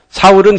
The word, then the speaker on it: 사울: 사울은 히브리식 발음이고 바울은 헬라식 발음입니다.